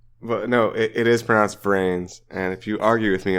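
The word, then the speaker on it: VRAINS: it hasn't ended yet it's ongoing and it's pronounced brain so stop calling it V reins motorcycles no they're on like hoverboards cool I'm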